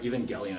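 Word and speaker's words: Evangelion: the even oh the even jelian card sorry even gelion I always say it wrong the purple even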